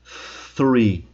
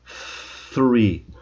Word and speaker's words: three: O th tem uma pronúncia muito específica, que é a língua entre os dentes. E aí fica uma coisa meio assim, ó. Então, olha só como eu vou pronunciar o número três. Three.